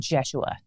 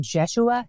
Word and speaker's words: Jeshua: their first high priest is a guy named jeshua but in today's reading it's spelled like Joshua we'll keep calling him jeshua since that's how we met him and since